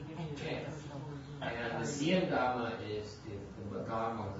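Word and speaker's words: Xian: S-E-E apostrophe N. X-I-A-N. Sien. Oh, X-I-A-N.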